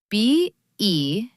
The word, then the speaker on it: better: Think about the word better. B-E-T-T-E-R. Americans say better.